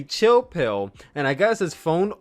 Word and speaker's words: Chill Spill: It's going to be spelled spill, S-P-I-L-L, but we're going to pronounce it P-I-L-L. So, welcome to the Chill Pill Podcast, spelled with an